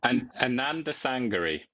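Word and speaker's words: Anandasangaree: Anand Sangari. Yeah. So split it up into Ananda, Ananda, Sangari, Sangri. There you go.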